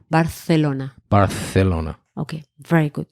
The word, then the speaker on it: Barcelona: Barcelona. Barcelona. Barcelona. Okay, very good. You pronounce your R and your th.